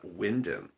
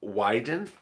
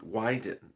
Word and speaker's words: Wyden: now let's turn to that deliciousness of ron winden someone in the comments to me said something like it's not pronounced that way uh wyden wyden i was making winden why why didn't